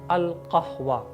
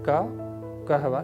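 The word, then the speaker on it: القهوة: So try to say the way I am saying al-qahwa, not kahwa, no, qaf. Correct Arabic pronunciation is al-qahwa.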